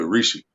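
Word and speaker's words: Hrishi: H is silent. So Rishi. Wasa.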